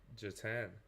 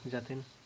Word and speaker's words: Jatin: And then I believe Jatan or Jatin. Sorry, how do you pronounce that? Yeah, hi, it's Jatin.